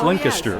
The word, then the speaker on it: Lancaster: and I've learned since I've been here it's linked astir I saw we will correct you well listen you have any any stories of mr.